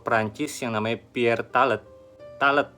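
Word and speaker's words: Tallet: Talet bacanya gitu ya nemuin papirus kuno yang ternyata catatan logistik pembangunan piramida.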